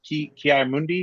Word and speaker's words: Ki-Adi-Mundi: Although Kyle gave me a eyes up face when I mentioned that Ki-Adi-Mundi, is that how you say his name?